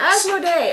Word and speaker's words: Asmodee: timeline as done by how do you pronounce that Zach as this is asmod Day games asmo day okay so this is